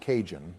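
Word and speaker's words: Cajun: Like with our next one, which is the kahoon flavored mac and cheese, and this gets a freaking A tier. Joe, we've been over this. It's not Kahoon. It's pronounced kinjun.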